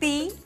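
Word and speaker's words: Pooh: हे my name is पू, पी ओ ओ एच, पू। पी ओ ओ विता वही बनता है ना? H silent.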